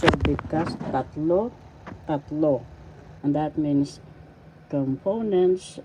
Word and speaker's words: tatlo: reiteration or paguulit is tatlo Tatlo first syllable tat second syllable law tatlo the second syllable has so you pronounce because tatlo tatlo and that means